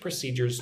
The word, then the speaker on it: procedures: So we follow strict procedures to make sure every shipment meets your standards, right? Look at the word procedures. Procedures. 3 syllables. Put the emphasis or the stress on the second syllable.